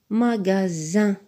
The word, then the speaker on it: magasin: cerise magasin un magasin dont le mot magasin on voit pas Z mais il y a un S qui est placé entre le a et le i c'est deux lettres sont des voyelles donc le S se prononce magasin mésange mes anges dans